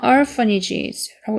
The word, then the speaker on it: orphanages: ph는 f 발음이에요. 그래서 orphanages라고 읽어주시면 됩니다.